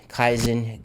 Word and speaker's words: Kaizen: to the stuff that you're interested in the kaizen that is how it's pronounced i'm proud of myself because i got